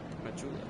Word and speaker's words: Majula: Majula, yeah, that's how you pronounce it.